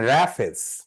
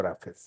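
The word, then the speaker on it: roughage: কেউ নিলেও পড়ানোর কথা হ্যা ওকে এবার লেখেন রাফেস রাফেস বানানটা একটু peculiar R ও ইউ জি এইচ এ জি ই রাফেস আচ্ছা রেফেস কে বলা হয় খাবারের তন্তুময় বা আশ যুক্ত অংশ আশযুক্ত অংশ তাহলে রাফেজ কি রাফেজ হলো সহজ ভাষায় আশ যুক্ত খাবার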